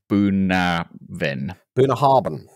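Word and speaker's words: Bunnahabhain: is pronounced something like buen bah haran that's yes exactly but that's not how it's spelled at all uh this is 12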